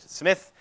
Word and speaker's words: Smythe: He spells it Smythe, but he pronounced it Smith.